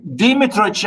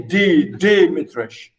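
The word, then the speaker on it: Dmitritch: We can't have D and M, or M and D. We can't have D or M. So that's why you say Dimitrich, but in Russian, this is okay. Anyway, I say it, I pronounce it as Dimitrich.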